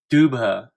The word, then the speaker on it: Dubhe: spirits of DEC if X31 dubha that's uh apparently how you pronounce it and Duba if you